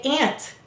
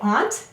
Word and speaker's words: aunt: ah let's read it some of you may say aunt if you say ant you'll notice that that's the two-letter phonogram that says ah that's fine if that's how you say it but remember many people in the world say aunt and that's why it's spelled this way the next word is